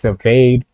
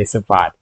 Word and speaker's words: Sivade: know with your name, I'm always going to pronounce it wrong. Because I know you said it before, it's Sivade. But you know my mind is always going to say Sivade.